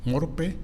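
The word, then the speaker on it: μορφή: Hay una palabra en griego que es, se escribe M-O-R-P-H-E, morpe, que significa forma.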